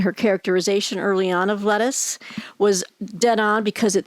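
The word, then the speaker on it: Lettice: be your real name it has to be pronounced Latisse she goes no it's lettuce who named certain lettuce British or strange no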